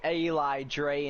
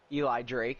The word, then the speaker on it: Eli Drake: take a quick drink La night was formerly Eli Dre in Impact Wrestling Eli Drake sorry mispronounced his name was a big star over